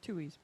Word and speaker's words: Tuohy: The Tuhoys? Tuies. Tuohys.